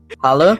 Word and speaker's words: Halle: It's Halle. Halle? It's like Halle, like Halle.